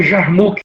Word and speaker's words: Yarmuk: Aí está escrito com Y, Yarmuk, e também se pronuncia Jarmuk, né? Nas nossas Bíblias é o Jarmuk, Rio Jarmuk.